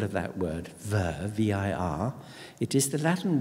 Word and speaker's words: vir: Because if you think about the first syllable of that word, vir, V-I-R, it is the Latin word for man in the masculine sense. Vir, or as my old Latin master used to say, weir, but he was a bit weird.